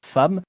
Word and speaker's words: femme: une autre et pourtant notre prononciation de femme n'est pas mauvaise ou plutôt elle est éit au tout début mais cela s'est finalement banalisé en effet à l'origine il nous fallait prononcer ce terme comme il était écrit cependant la langue a